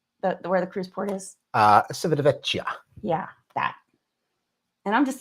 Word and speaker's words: Civitavecchia: Civitavecchia. Yeah, that. And I'm just as Italian as you are. Civitavecchia.